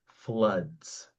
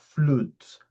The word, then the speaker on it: floods: The pronunciation of this word is floods. Floods. Yeah. Not fluts.